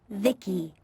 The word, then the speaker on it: VICI: By the way, I'm VICI, pronounced Vicky.